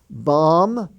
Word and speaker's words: bomb: a ride or he is using his thumb bomb b-o-m-b the planes were going to bomb that